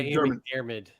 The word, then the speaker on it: McDiarmid: Is it Ian McDiarmid? Yeah, Ian McDiarmid. McDermott.